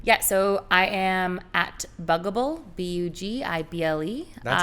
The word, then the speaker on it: Bugible: So I am at Bugible, Bugible. That's how you pronounce it. I wasn't sure how to pronounce it. Not Bugible. Okay. It's like bug and edible. So Bugible.